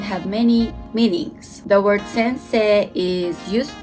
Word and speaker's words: sensei: in my channel name there is an i here but but it's better not to pronounce the last i and extend say listen carefully sensei sensei you can translate it